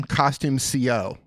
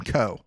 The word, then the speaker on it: Costume Co: I don't know where I even heard you, but it's Costume Co. is how you pronounce it. So I just feel like a dummy. I've been pronouncing it CO all these years.